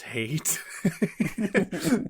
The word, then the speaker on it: Hayt: His name is Hate, but it's spelled... mentally, I pronounced it height.